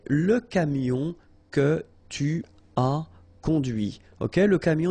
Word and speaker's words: conduit: C'est la voiture que tu as conduite. And that's when you hear the difference between conduit, because remember, final T is not pronounced, conduit, here, and then the feminine, conduite.